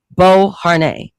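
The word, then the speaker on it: Beauharnais: That's how you pronounce the last name. Bo Har during his Italian military campaign.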